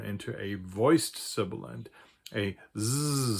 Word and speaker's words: Z: that is called a Z, and it's not at all pronounced like a Z, like a voiced sibilant.